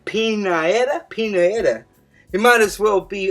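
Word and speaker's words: Pianeta: But just looking at his name, Pinaeta rhymes with Pinata, and we don't know who the fuck it is.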